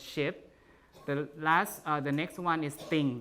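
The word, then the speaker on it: scip: The second word, ship, SC is pronounced SH, right? In Old English, ship.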